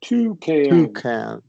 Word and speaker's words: toucan: And exam, champ, gland, diagram, hand, handle, can, Japan, ban, to can, And you're going to stress there. You're going to stress the first syllable. Toucan.